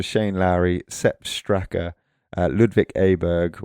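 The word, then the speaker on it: Åberg: And those six qualified autos and then the picks were Shane Lowry, Seb Straker, Ludvik Aberg or Arberg I think it's pronounced in Swedish, Victor Hovland, Matt Fitzpatrick and John Ram.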